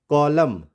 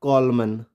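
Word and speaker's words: column: यहां उदाहरण से समझेंगे कॉलम इट्स नॉट कॉलमन या ऑटम या डेमन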